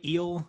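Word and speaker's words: Luis Gil: do you expect anything from devi garcia luis heel right eel have you pronounced it yeah do you expect anything from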